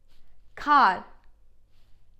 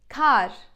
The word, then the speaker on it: kar: So the letter R, the pronunciation is special to Turkish, is not that strong, it's a bit softer, alright?